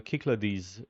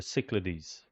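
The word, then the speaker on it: Cyclades: So perhaps we could do the the kiclades in the next episode or or the cichlides in in if we go closer to the original Greek pronunciation we say kiclades and more anglicized would be cichlides.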